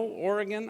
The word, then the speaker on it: Oregon: so Portland and Southwest Washington you may know Oregon our state State one it's pronounced Oregon you're in California so would know